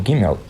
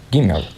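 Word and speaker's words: גימל: alfabeto hebraico é o gimel gimel seria o equivalente ao G do nosso português Porém você não deve pronunciá-lo como o g de girafa mas como G em garrafa ou engem gole né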